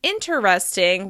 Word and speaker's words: interesting: Instead of saying interesting, we say interesting. Interesting. As you can hear, there are only 3 syllables in this word. Interesting. Interesting. The reduced syllable is dropped entirely. As you can hear, this word is stressed on the first syllable. Remember to really linger on that vowel sound, making it longer, louder, and higher in pitch.